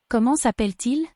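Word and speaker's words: Comment s'appelle-t-il ?: So, the T on como is silent. There is a double L after the E, so the E before the L says e. ENT on the end of appel is silent. However, the T at the end of appel is heard because it's followed by a vowel.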